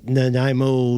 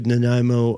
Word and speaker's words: Nanaimo: the reinstitution of that, I'm seeing the Nanaimo News Bulletin from 2013.